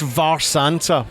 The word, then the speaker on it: Mharsanta: pronounce the name again for me so it's pronounced VAR Santa which is but it's it's weird it's a